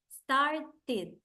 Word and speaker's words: started: And the other pronunciation, the one that Jose said, is the pronunciation that sounds like an id, id. For example, when Jose said started, started, here, started, started, started, started.